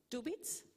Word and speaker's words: Dubit: And finally, we have Patrick Mead, who is representing the private sector, a company, is Chief Technical Officer, CTO, of Dubit. This is how you pronounce it?